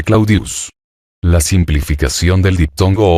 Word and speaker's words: Claudius: Claudia deseoso de popularidad decía Llamar clodius que era como el pueblo la mayoría pronunciaba el nombre claudius la simplificación del diptongo